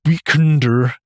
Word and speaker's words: WKNDR: Um, saving the weekender, which is spelled W KN DR.